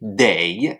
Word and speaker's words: 得: Et enfin, la troisième prononciation de ce caractère, c'est dei, D-E-I, troisième ton, qui veut dire dans ce cas-là, devoir, être obligé de.